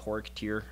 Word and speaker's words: Xorekteer: So the first style I was doing was called Horik Tir. Generally spelled X, this is how I spell it, and I've seen it spelled Xorekteer, something along those lines.